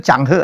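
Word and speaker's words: Cheng Ho: t w he he ternyata bacanya tuh changhe ya bukan chengo ya Iya sebenarnya namanya masan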